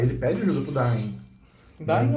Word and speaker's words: Dain: Dain ou Den? Dain. D-A-I-N. Dain. Não, eu sei como escreve, estou na pronúncia. Porque em inglês eles chamam de Den no filme. Den. E pra mim eu leria Den sem problema nenhum.